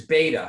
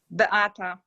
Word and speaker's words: Beata: And it's Beta, huh? Is that how you pronounce it? Beata. What is it? Beata. Beata. Okay.